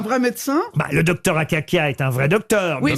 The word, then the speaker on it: Akakia: Sous quel nom connaît-on mieux le célèbre docteur Akakia? Akaka. Akakia. Professeur Le docteur Akakia. Comment ça s'écrit Akaka?